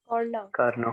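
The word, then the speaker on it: Carnot: बच्चों फ्रेंच शब्दों में अगर टी लास्ट में है तो वो साइलेंट होगा।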